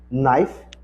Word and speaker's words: knife: k, nesse caso aqui, as palavras que que tá começando com KN, geralmente o o K não é pronunciado. Um exemplo falar assim a palavra knife, assim, ó, knife que é faca.